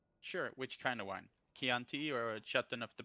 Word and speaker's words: Chianti: Chianti or a Chateau of the poppity poppity poppity poppity poppity poppity poppity pop?